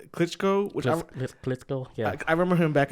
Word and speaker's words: Klitschko: Klitschko, yeah.